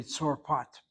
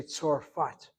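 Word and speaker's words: צרפת: The word should be Tzorpat, but we say Tzorfat. We pronounce it as an F sound, not as a P sound.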